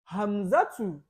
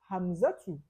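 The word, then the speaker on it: حمزة: Hamzatu without tanwin. Despite it's a male name, but it has similarity with the female name. So we don't pronounce it with tanwin. We say Hamzatu.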